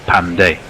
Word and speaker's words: Pandey: the Wicket and Manish Pandey pushes this all the way down the ground through long on for one of these emphasis I'm told from The Green Room being on the first syllable Pandey well he got straight